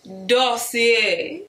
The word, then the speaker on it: Dossier: Dossier. You gotta say it like that. That's what it looks like. Yo, this smells good.